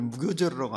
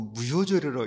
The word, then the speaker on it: 무교절: 근데 어떤 분들이 한문을 읽을 때 술주자에다 효도 효자가 썼던가 그러니까 거기를 무교절이라고 안 읽고 무효절이라고 읽는데 그 한문 잘 몰라서 그런 거죠.